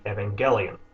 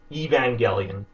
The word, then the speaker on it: Evangelion: that word the original word and how it's pronounced in Japanese there's no difference in that case should be harg Evangelion saying it in other ways like holding up